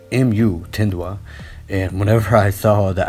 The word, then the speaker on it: Mutindwa: with the pronunciation because everybody was telling me um tindois but when i looked it up it's actually muthendwa mu tindwa and whenever i saw